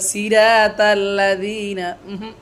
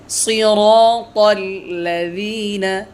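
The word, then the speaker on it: الَّذِينَ: মুস্তাকিম, ইহদিনাস সিরাতাল মুস্তাকিম, সিরাতাল লাযীনা, অনেকে বলে সিরাতাল লাযীনা, ভুল, সিরাতাল লাযীনা আন'আমতা আলাইহিম, অনেকে বলে আনামতা আলাইহিম, বলেন আনামতা, আনামতা না, সিরাতাল লাযীনা আন'আমতা আলাইহিম।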